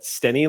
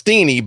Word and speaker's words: Steeny: So, B-Dave, you've requested to describe what Stenny looks like. Is that how you pronounce Stenny's name? It's Steeny, but you know what?